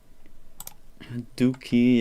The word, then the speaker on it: Dookie: Dookie, yeah, it's like cookie but only with a D, and also without caps.